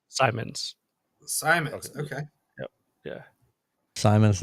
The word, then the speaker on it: Simons: It is Simons. Simons. Simons. Okay. Yeah. Simons, not Simmons.